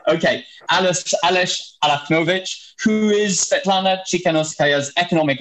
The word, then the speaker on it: Alachnovič: Is that how I pronounce it? Alachnovič? Exactly. Okay, Aleś Alachnovič, who is Sviatlana Tsikhanouskaya's